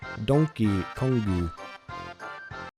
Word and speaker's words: Donkey Kong: bootleg version of how Donkey Kong is pronounced in Japanese. Donkey Kongu.